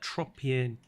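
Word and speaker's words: Tropeognathus: Did she just call that Tropiognathus? She said that weird. Tropionathus. I don't know what it was there. Just the way that she pronounced that sounded strange to me, but she said it correctly.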